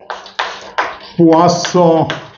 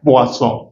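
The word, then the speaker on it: Poisson: France के वैज्ञानिक थे और फ्रेंच भाषा में ओ आई को ऐसे प्रोनाउंस करते हैं जैसे डब्ल्यू ए है वोसों तो ये क्या कहता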